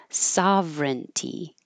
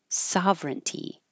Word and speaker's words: sovereignty: momentarily momentarily and then this word with all of these vowels and all of these syllables really just gets pushed into three syllables sovereignty sovereignty that's it I'll do them again